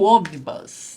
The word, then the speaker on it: omnibus: ainda do Superman do omnibus né outro dia me perguntaram a pronúncia gente fecha a boca no m e depois já bate a língua no sau na boca no n omnibus tá então Aqui nós